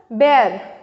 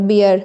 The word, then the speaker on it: bear: बेयर, BEAR, तो इसको बचपन में पढ़ते आए होंगे हम लोग, बियर, B फॉर बियर, बट इट्स B फॉर